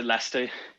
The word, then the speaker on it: Leicester: go next to john from is it pronounced lester is that the correct pronunciation yeah no it's a lester we spoke before actually i remember in question